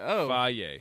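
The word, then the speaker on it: Fage: It's faye. Faye.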